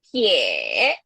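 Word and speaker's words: 撇: Next di sini garis miring ke kiri kita bisa baca pie. Yes, jadi garis miring ke kiri itu pie. Dan ingat-ingat ya, nanti ada gamesnya nih biar bisa pie.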